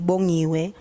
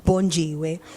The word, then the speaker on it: Bongiwe: pronounce my name properly, Bongiwe, and the G is silent, so she couldn't actually pronounce it properly. She used to pronounce it as Bonjiwe.